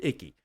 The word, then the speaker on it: Icke: David Ike. Also, people pronounce it David Icky.